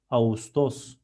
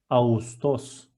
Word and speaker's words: Ağustos: And while I'm reading it, soft G combines two vowels, which are A and U, in a smooth way. I'm not reading it as Ağustos, I'm reading it as Ağustos, Ağustos.